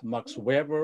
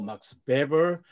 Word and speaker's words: Weber: learned a lot about max weber or max baber depending upon how you pronounce the eight from professor wolfgang drexler